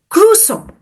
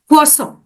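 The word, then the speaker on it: consommé: certain words for example Americans often mispronounce French words like cossom they might say cusome instead of quom while britishers might stumble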